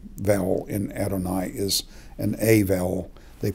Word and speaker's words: Adonai: What is to be read is the vowels. So you're to read Adonai. When I read in Hebrew aloud, I always say Adonai for the divine name.